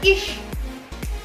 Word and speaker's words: ich: Contohnya adalah ish. Ish. Nah, ish itu ICH. Nah, CH yang berdampingan itu bukan ih dibacanya, tapi ish.